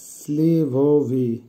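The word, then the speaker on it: сливовый: স্লিভোভি এর অর্থ হবে বরইয়ের রং, অর্থাৎ পাম ফলের মতো রং, উচ্চারণ হবে স্লিভোভি।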